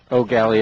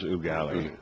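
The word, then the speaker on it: Eau Gallie: If you've been around Florida long enough, it is Ooh Galley, not Oh, galley or ooh galley. Yeah, I always have a tough time with that. Oh, the French pronunciation is Ugali. Ooh galley.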